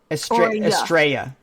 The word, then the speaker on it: Estrella: In the Spanish language, 2 L's is a J. Estrella.